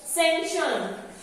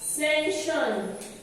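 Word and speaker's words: sanction: Our next word is सेंशन. सेंशन. इसमें सी silent होता है.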